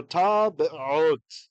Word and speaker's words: טבעות: So technically the first schwa you're not hearing and the second you are. So tabe'ot, tabe'ot.